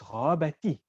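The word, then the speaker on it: غابتِ: The reason that it's ghabati, right, is simply so that you can read with flow.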